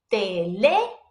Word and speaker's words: teléfono: Remember that the accent mark over the vowel is telling us to put emphasis on it when you pronounce it. So pretend like you're like hammering that letter. So it goes teléfono.